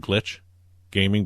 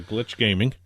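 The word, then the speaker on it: Glitxh Gaming: the fourth team and it's pronounced glitch gaming but it's got an x in it okay wait wait i gl i t xh okay all right it's a glitch gaming all right and that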